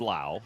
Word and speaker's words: Lowe: He's the first out here in the first inning and now Brandon Lowe, spelled Lowe just like Nathaniel Lowe, pronounced Lowe.